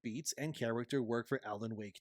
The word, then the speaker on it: Alan Wake: However, I will say at one point the interviewer actually mispronounces Alan Wake 2 as Alan Waker.